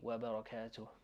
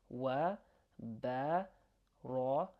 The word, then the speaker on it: وبركاته: So we've said wa rahmatullahi, so now we're going to say wa barakatuh, وبركاته وبركاته ورحمة الله وبركاته بركاته to. There's an H sound here that we're pronouncing.